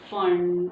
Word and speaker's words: Pfund: kind of said before it's a fun series someone says it's a full series but this one is fun series P is silent okay and this one